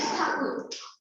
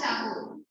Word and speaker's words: Tagore: Like Rabindranath Tagore, the actual surname is Thakur. So even in Bengal, the Bengalis always refer to him as Thakur. So Britishers pronounced Thakur as Tagore, and so it became Tagore.